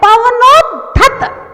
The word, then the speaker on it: पवनोद्धत: कल्पांत कल्पांत कल्पांत काल पवनोद्धत पवनोद दा दा पहले दा फिर धा पवनोद धत पवनोद्धत पवनोद्धत पवनोद्धत पवनोद्धत।